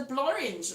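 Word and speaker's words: Blorenge: I only know of the one that's in the Blorange, that rhymes with orange, that's supposedly a man-made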